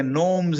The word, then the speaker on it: gnomes: అలాగే నోమ్స్ అని కొన్నిటికి తో ఉంది, GNOMES, బట్ G is silent, సో నోమ్స్ అంటారు వాటిని.